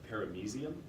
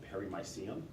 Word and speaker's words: paramecium: the other day, and he says the word paramecium. I always went with perimycium. Do we have a definite pronunciation on that? Anybody? Paramecium. I think we'll trust Tom Myers on that.